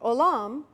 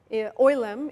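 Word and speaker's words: עולם: Olam, oilem in the Ashkenazi pronunciation, means world, but it also means public.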